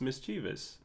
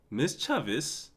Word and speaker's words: mischievous: mischievous it says misch that mischievous no it's mischievous there is no wrong way to to pronounce that Miss Chavis what you're trolling now no no you are